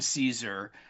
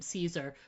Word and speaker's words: Caesar: I love it too because I you're such a nice person for actually saying I am Caesar because really really Kaiser is what you should be saying.